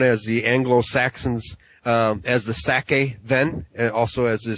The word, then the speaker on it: Saka: The Saka, S-A-K-A, Saka, which would be your Indo-Aryan pronunciation.